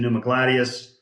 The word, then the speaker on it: Pneumagladius: I can It's spelled with the P. It's a Greek. It's a it's a it's derived from a Latin word, so different spelling than you'd think.